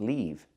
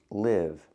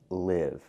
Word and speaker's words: live: that's a different word I have to pronounce it live with the short I like this is live example I like to live in the moment what